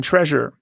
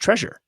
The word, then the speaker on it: Trezor: treasure treasure oh yes it's probably it's probably pronounced treasure it's tear easy pronounce treasure treasure i think it's treasure okay yeah i think it's a play on words right the hit tip cool kid's way to spell treasure it says it was